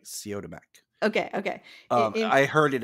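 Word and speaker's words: Siodmak: help me kurt uh i always pronounce it as cytomec but it's like co to mac okay okay i heard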